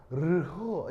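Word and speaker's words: ρ: 그래서 이제 제대로 발음은 르호 이건데 이게 자음 두 개를 그러니까 한꺼번에 발음하면은 앞에 게 이제 뭐냐면 약간 이렇게 묵음처럼 처리되니까 보통 읽을 때는 로 이렇게 읽어요. 로 알겠죠?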